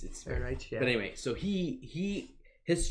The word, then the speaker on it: Ehrenreich: If I remember, a German guy was pronouncing it. Anyway, Ehrenreich. Yeah, it's Ehrenreich.